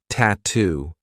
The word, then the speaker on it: tattoo: Another word that I love for practicing the true T is tattoo. We have two true T sounds, T and then two.